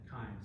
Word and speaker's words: chyme: We pronounce it chyme, C-H-Y-M.